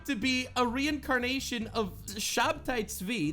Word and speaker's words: Shabtai Tzvi: Jacob Frank, some random fucking Jew in the 1700s who claimed to be a reincarnation of Shabtai Tzvi, that's his Hebrew pronunciation, a guy who, by the way, every single Jew remembers him as a bad guy.